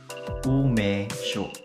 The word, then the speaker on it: umeshu: Ang tawag dito, no, kapag nagawa mo na siya, ang tawag dito ay, sa kabuuan, no, is umeshu. Umeshu. Umeshu, mga kaibigan. Okay, pangat yung, ano ko yung pronunciation.